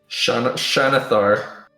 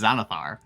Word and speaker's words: Xanathar: Yeah, the X in Xanathar is Xanathar. X is often pronounced as a Z, Oh, yeah.